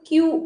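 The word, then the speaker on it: queue: हा क्यू या शब्दाचा याचा उच्चार जो आहे ना हा शब्द महत्वाचा आहे बघा लिहून देते क्यू यु यु इ याचा उच्चार कसा होतो तर फक्त क्यू असा होतो क्यू आणि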